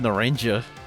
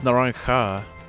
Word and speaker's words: Naranja: A lot of people seem to pronounce it Naranja, but no, it's Naranja, which is, you know, orange in Spanish.